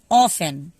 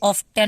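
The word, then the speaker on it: often: ऑफन, यहाँ पे ऑफ्टन नहीं पढ़ूंगा, यहाँ पे टी साइलेंट है, ठीक है। ऑफन, OFEN बस पढ़ना, ऑफन पढ़ना, टी साइलेंट रहेगा।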